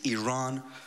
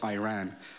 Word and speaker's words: Iran: our country's name wrong our country is named Iran not Iran please once and for all